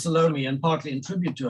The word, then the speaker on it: Salome: was salome i'm i i realize the classical european pronunciation is salome but in south africa it sort of gets squashed her name is salome and partly in tribute